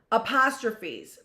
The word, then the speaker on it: apostrophe: Apostrophes possession. Use an apostrophe pronounced a trophy.